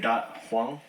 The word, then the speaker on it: Dat Hoang: Dat Hoang.